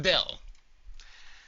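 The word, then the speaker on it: ∂: called the partial with respect to X it's pronounced Dell so let's say you have some function Z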